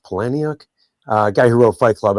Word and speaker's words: Palahniuk: I think it's actually pronounced Palahniuk.